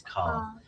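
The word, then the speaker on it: Karl: No, Carl. His name is Carl.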